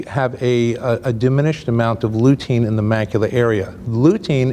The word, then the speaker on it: lutein: And then this is the lutein. Correct. I'm pronouncing this right, okay.